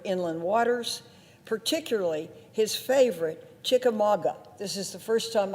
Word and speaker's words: Chickamauga: engineers funding for inland waters particularly his favorite chickamauga this is the first time i ever heard the word pronounced chika maga lock he often talks about in our hearings